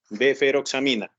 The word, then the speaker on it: deferoxamina: Que nos acostumbramos a pronunciarlo como no es, entonces no es DES, sino DF, deferoxamina, ¿ok?